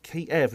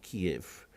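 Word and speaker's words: Kyiv: It's spelled K-Y-E-V. It's Kiev, not Kiev.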